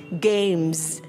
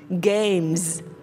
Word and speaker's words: games: Và mình hãy đánh âm z ở cuối câu vì nó là số nhiều ha. Games, games, games.